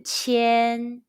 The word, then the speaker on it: qian: Qi, yan, qian.